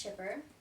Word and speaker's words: Kuiper: It's actually spelled Kuiper, but pronounced Chipper.